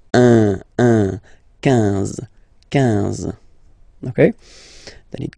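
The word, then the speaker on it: onze: Then 11, 11, okay? So O plus N give you the sound on, 11, 11, okay? Final E doesn't exist phonetically.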